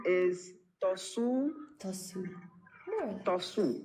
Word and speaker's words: Tosu: Am I pronouncing your name correctly? My name is Tosu.